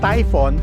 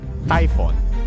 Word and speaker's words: Typhon: we get to that a Typhon spelled with one o is not a typo it comes from Typhon a monster in Greek mythology known as the father of dangerous winds sounds like typhoon and so if you